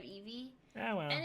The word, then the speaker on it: Eebee: they call me. Yeah, instead of Eevee.